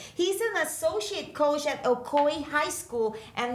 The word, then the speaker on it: Ocoee: have you here he's an associate coach at okoy high school and not only that but he's